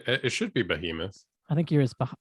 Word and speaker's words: Behemoth: It's pronounced something else. I, what did I say? It should be Behemoth. I think yours Bahamut or something like that was what you were Jeez, saying earlier.